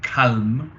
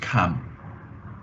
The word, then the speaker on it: calm: c a l m and you might want to say or calm but actually in English it's just cam c a m almost